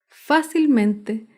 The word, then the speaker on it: fácilmente: Fácilmente se acentúa en la sílaba anterior a la antepenúltima sílaba.